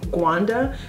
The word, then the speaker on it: Rwanda: And by the way, did you guys know that Rwanda is actually pronounced Gwanda? I met a girl recently who's from Gwanda and she corrected me when I said Rwanda and she said that that's how they pronounce it, Gwanda.